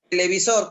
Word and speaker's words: televisor: En la siguiente, televisor, ¿cuál es la sílaba tónica, Janiel? Sor, Sor, correcto.